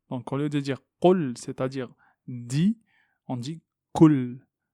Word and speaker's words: قل: Ici, le qaf est emphatique. Donc, c'est une lettre emphatique qu'on doit prononcer de façon amplifiée. On ne dit pas qul, qul. Il y a certaines communautés qui prononcent en fait leur qaf de cette façon. Qul, ça c'est une erreur dans la langue arabe. Qul, qul. Et on évite de prononcer le qaf comme un kef, parce que là, on va changer le son du verset.